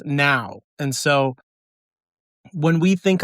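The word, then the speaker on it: Nao: N A Oo, but pronounced out loud as now.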